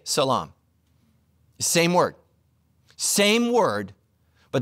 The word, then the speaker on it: salaam: to greet each other it's pronounced differently but it's spelled identically Jews say shalom Muslims say Salaam same word same word